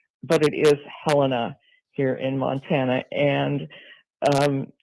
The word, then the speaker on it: Helena: The capital, which some people pronounce Helina, but it is Helena here in Montana.